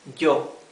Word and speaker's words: yo: Then the letter Y always has this other pronunciation, j, okay? Like here, yo.